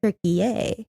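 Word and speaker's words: Türkiye: like the animal turkey now it's turkey which is t r k believe i y e i y e okay tury a interesting I this is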